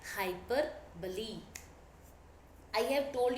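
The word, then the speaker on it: hyperbole: एच ओ एन वाई हाइपर बली spelling होती है एच वाई पी ई आर बी ओ एल ई आप में से कई लोग इसको हाइपर बोल बोलते but right pronunciation is हाइपर बली इसको हम हिंदी में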